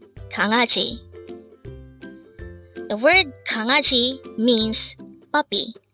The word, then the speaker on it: 강아지: 강아지. Again, 강아지. This is pronounced as a three-syllable word. The first syllable is 강, second syllable is a, and third syllable is ji. Pronounce it with me. 강아지, 강아지.